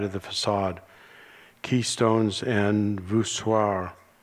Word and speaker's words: voussoirs: Keystones and voussoirs, says it rhymes with bizarre.